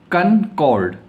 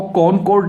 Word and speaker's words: कनकॉर्ड: उसके बाद में नेक्स्ट वाक्य हमारे पास में है कनकॉर्ड। कनकॉर्ड, इसको कॉनकॉर्ड नहीं कहते हैं, इसको बोलते हैं कनकॉर्ड, CONCORD, कनकॉर्ड।